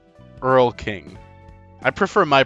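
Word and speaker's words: Erlking: Also, beans is pronounced Earl King, the name of the first of the fa king from the various Euro folk folklores. Earl King, I prefer my pronunciation.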